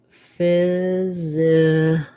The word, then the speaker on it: physicist: So for physicist, it's different than physics. We have the PH saying the F sound, first syllable stress. Y says the I vowel, like it. The letter S says the Z sound. Then we have another I unstressed. The C says the S sound, another I, and then our S and T.